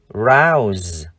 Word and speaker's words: rouse: Tuy nhiên, trong hai từ khuấy động, rouse, âm cuối chúng ta đọc là z.